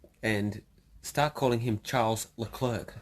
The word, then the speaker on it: Leclerc: grid at Albert Park Oh Charles look Claire she's how he pronounces it right so he actually says that Charles Leclerc when everyone is actually there